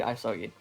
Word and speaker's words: Isogi: With my accent, I say Isogi. Isogi. Okay. Yeah. Gotcha. Like ice hockey.